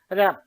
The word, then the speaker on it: wrap: এরপরে গিয়ে অ্যালাইনমেন্টের আরো দুটো জিনিস আছে, একটা হচ্ছে র্যাপ টেক্সট, অনেকেই অর্প বলে, WRAP, এটাকে আমরা অবশ্যই অর্প বলবো না, সঠিক উচ্চারণটাই করবো র্যাপ।